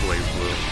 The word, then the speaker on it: BlazBlue: Oh, it's actually pronounced Blaze Blue.